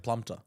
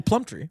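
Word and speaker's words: Plumptre: plumter The Prompt true I don't like when the r comes before the E I don't know how to say it it's kind of like plump tree but there's only one e at the end I see it like plumpter that's incorrect okay well Plum Tree she's amazing though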